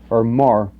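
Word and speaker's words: maror: bitter herbs there is the Hebrew word my roar I hope I'm pronouncing I think I'm pronouncing it right it's my roar okay or more and it basically means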